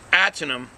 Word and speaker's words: Ahtanum: Now this ahtanum, I know when you see the word, it's spelled A-H-T-A-N-U-M. It's ahtanum.